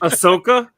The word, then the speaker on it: Ahsoka: Ahsoka. It's like Osaka, Japan. I can't say it for some reason. It wasn't coming out of my brain for some reason. So Ahsoka.